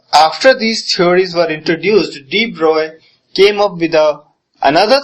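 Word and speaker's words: de Broglie: CM okay so after these theories were introduced D Bry came up with a another theory D Bry came up D it's uh its pronunciation is DB it's not d brole some people pronounce it as D broley he came up with his uh own theory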